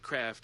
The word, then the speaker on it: Kraft: Like, we call it Kraft or macaroni and cheese here. They call it Croft dinner because for some reason they don't know how to say the word Kraft.